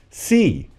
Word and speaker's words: Xi: next letter z because it's spelled x i which is the roman way of writing the chinese name c which is the surname of president xi jinping of china and they